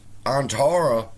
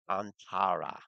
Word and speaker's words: Antara: And they missed the part where once Antara voted, all right, that locked. You're saying it wrong. It's Antara. Antara.